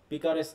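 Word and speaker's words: picaresque: তো দেখো এখানে বলা হচ্ছে, বানানটা খেয়াল করো, হ্যাঁ, পিকারেস্ক নোভেল।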